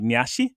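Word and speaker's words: Nyarth: name just like him which in japanese is nashi it's like nasi but they pronounce it more like nyashi and it's scary for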